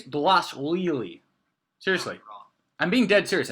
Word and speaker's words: Dvalishvili: the first fight of the main card, Merab Dvalishvili. I think that's how you pronounce it. I've gotten better now. Davishvili. I think it's Dvalishvili.